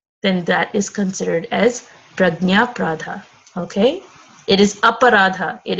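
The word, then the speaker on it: prajñāparādha: It's pronounced Prajna Pradha.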